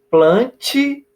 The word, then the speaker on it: Plantae: E planta, pode-se pronunciar aí, plante, por mais que tenha um A, podemos pronunciar reino plante, reino das plantas, tá?